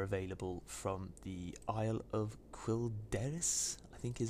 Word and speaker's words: Quel'Danas: There's a few alterations too, purely being the Merciless Gladiator set, which are available from the Isle of Quel'Danas, I think is how it's pronounced, up in the north of Eastern Kingdoms.